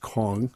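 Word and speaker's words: Kueng: uh Alexander uh I believe it's pronounced Kong is now unsupervised released released in January of this year and Thomas Lane released in August 2024.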